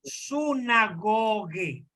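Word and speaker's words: συναγωγή: Ahí la omega es una O larga, es Sí. O. Ahí Ok. dice sunagoge.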